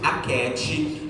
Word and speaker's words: Achetti: Meu nome é Aket. Ó, o meu arroba é @Aket, que é o meu nome. Aket se escreve ACHETTI.